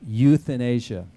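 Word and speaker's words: Youthanasia: I came up with Euthanasia. Euthanasia. And but spelled Y-O-U-T-H, not euthanasia, E-U.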